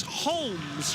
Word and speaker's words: Holmes: Thomas Lawrence alongside me, alias Tolo, alongside Thomas Holmes Reed. Not Holmes, don't call him Holmes, something like that, likes the L to be pronounced, known as THR.